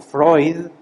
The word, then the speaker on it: Freud: en el área de psicología sigmon Freud se pronuncia Freud sigmon Freud crea todo una análisis psicológico y